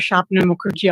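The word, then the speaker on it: Swapna Mukherjee: My name is Shapna Mukerji. I'll spell it.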